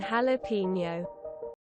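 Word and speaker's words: jalapeño: Pronouncing the J in jalapeno.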